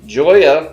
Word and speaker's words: Joya: uh we are smoking heard this pronounced two ways the Joya red or probably more accurate the Hoya red since we are from Nicaragua Ron Burgundy agrees it's a it's a soft J it's like Yi so I'm I'm well